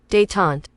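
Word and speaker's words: détente: that word d deante how you pronounce that we're going to Google it we're going to learn a new word here let's see what Google has to say day tant day tant day tant yeah so you you you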